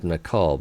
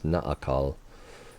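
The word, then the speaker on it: Naacal: However, experts believe that in the specific case of well, she said Nakal, but to me, I can't help but think that that's Naakal, with the extra, so it's 3 syllables instead of 2.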